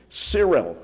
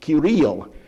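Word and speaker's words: Cyril: cilic language because one of the monks was sirel or as it should be pronounced kiril so they have the kiric language as they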